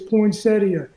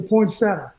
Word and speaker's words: poinsettia: it's point something yeah if you want to be accurate it's poinsettia if you're from where i am it's a poinsettia that's right it's a